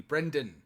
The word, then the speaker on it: Brendan: Brendan. Yeah, good job on the B, the R, and the N. Even if they thought they heard Brandon, it's almost two syllables.